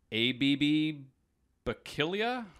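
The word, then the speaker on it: Abebe Bikila: no idea how to say this guy's name ABB but killya I think you nailed it okay I did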